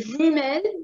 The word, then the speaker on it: jumelles: And here, jumelles, only one, both of them, the jumelles with the S in the end, and it doesn't change the pronunciation either.